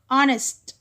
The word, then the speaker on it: honest: Honest, దీని ఎలా చదవాలి, honest, so h is silent letter.